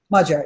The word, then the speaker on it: Magyar: Okay, back to Magyar. Am I pronouncing that correctly? The Hungarian sociologist? Magyar, yeah.